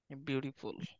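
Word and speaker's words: beautiful: তোমরা যে আরো ভালোভাবে উচ্চারণ করতে চাও, বিউটিফুল বলবা, বিউটিফুল। টি কে ডি উচ্চারণ করবা, তাহলে আমেরিকান সাউন্ড হবে। বিউটিফুল।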